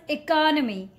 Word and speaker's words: economy: No, the correct way to say this word is economy. Economy. Don't call it economy.